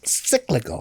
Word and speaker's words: cyclical: Cyclical. I like that word. Cyclical rhymes with biblical.